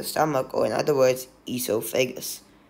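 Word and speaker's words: oesophagus: or in other words esophagus it's pronounced as esophagus but there's an extra o at the front that's the answer B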